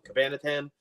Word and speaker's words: Cabanatan: It's actually Cabanatan. Rhymes with banana.